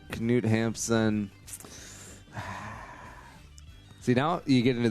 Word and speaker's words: Knut Hamsun: there was a Knut oh that's not a silent K yeah oh not Knut Hamsun alright so Knut Hamsun see now you get